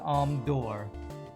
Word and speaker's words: Amdur: Amdur, but you pronounce it Amdor.